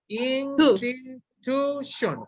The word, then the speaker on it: institution: Institution. 4 syllables. Where is the stress? The last. Shun? Oh, sorry. And the third. In the third syllable.